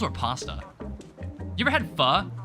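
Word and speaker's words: phở: Pho? Is that a different thing? But I mean, that's how it's pronounced. But it's like spelled P-H-O in Vietnamese.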